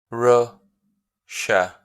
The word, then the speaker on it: Russia: Because it's like Asia. If you look at the last 3 letters, like Asia, SIA, we pronounce J.